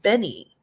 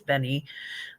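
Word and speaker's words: Beni: um uh it's called Benny B ni I and I hope I'm pronouncing that correctly could be beanie but I think it's Benny um B is in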